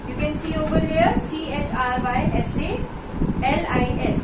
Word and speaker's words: chrysalis: You can see over here, CHRYSALIS. So many students are facing so much of this difficulty in pronouncing it. It's chrysalis. Okay? You will, H is silent. Okay? You will simply say chrysalis.